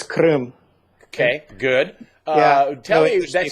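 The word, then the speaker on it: Крым: I think it's Krem in Russian. You can probably say it correctly. I probably just butchered it. But it's Krim.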